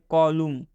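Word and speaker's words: column: जैसे कॉलम, कॉलम में एम के बाद एन आया है, तो जब भी एम के बाद यदि एन आता है तो उस एन का उच्चारण नहीं करना है।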